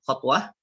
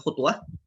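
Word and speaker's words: خطوة: Dan langkahan itu ya dengan membacanya dengan menfathahkan kha ya, khotwah bukan khutwah ya.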